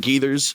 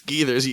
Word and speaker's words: Gathers: matter who it is is it GS yes no it's gethers y'all screwing it up